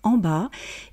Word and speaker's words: en bas: bas, autour, en haut, en bas, autour. Vous remarquerez qu'on ne prononce pas la lettre T de « en haut » et qu'on ne prononce pas le S de « en bas ».